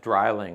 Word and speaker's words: Drilling: playlist and put in, it's actually pronounced Dreiling. I apologize to my German friends. Drei, eins, zwei, drei, for three, has 3 barrels.